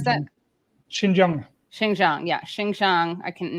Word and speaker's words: Xinjiang: Wait, how do I pronounce that? Xinjiang.